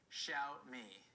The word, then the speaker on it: Xiaomi: that's pronounced apparently the correct pronunciation is it's pronounced xiaomi xiao me it means little rice so there we go